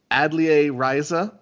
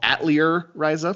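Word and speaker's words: Atelier Ryza: gonna be talking about adlia riza which is a game i stupidly called atlear raiza for many many months until google taught me how to pronounce that word oh cj you idiot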